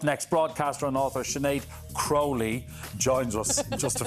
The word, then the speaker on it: Crowley: absolutely gas isn't it the Crowley is the unusual slightly more unusual pronunciation I and it really annoys me when people call me Crowley I know it's a